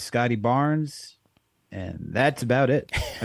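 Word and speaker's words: Scottie Barnes: Barnes I think you said it right it's Scotty Barnes and that's about it I mean they got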